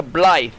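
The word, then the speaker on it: Blaidd: he's a wolf and is traditionally pronounced closer to ble with a soft th sound like the. The double d in Welsh creates a voiced th sound. So, your pronunciation of ble is spoton. Ah, so he's not Blade, he's Ble.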